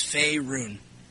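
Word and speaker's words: Faerûn: you pronounce that Fon it's Fay like the Fay elves F run that's what I thought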